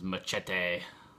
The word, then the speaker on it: Machete: for quite a while because machete that's how they say it in the movie Machete I'll just call him shitty uh 2010.